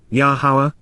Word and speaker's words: Yahowah: made between his guidance and our decisions yahawah's yahawah the proper pronunciation of the name of iloa God has